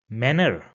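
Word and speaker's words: Männer: So for example this word over here which means men in English and I replace the al with an a and a y and then I will pronounce it as manner.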